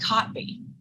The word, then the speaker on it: Kotb: It's Hoda Kotb. Why is it spelled like that?